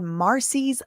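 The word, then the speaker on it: Marsy: It's called Marcy's law, but it's spelled kind of interesting. M A R S Y Marcy.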